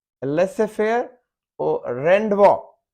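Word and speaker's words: rendezvous: और जेड में है लेसे फेयर, लेसे फेयर और रेंडवो, रेंडेवू, रेंडेवू, रेंडेवू ये है मीटिंग या अपॉइंटमेंट, रेंडेवू।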